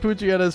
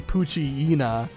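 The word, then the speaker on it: Poochyena: I hate Pooa's pronunciation. It should be Pooina. Like hyena instead of Pooa.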